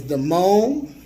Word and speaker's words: De-Mon: Her name on the front, as you see, her name is De-Mon. It's spelled D-E/M-O-N. De-Mon.